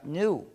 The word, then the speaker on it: GNU: Se usa en muchísimos juegos de palabras porque, según el diccionario, la G es muda y la palabra se pronuncia new, es decir, nuevo.